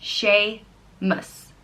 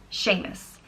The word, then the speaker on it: Seamus: Patty's Day at all next name is Seamus and it means supplanter and it's pronounced Sheamus Sheamus and it's spelt s EA em us and